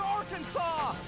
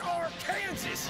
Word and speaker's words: Arkansas: Send him back to Arkansas! It's pronounced Arkansas, you idiot!